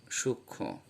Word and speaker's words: সূক্ষ্ম: এর উচ্চারণটা খেয়াল করুন, সূক্ষ্ম। এই লক্ষ্মী এবং সূক্ষ্ম এগুলোতে সানুনাসিক উচ্চারণ হচ্ছে।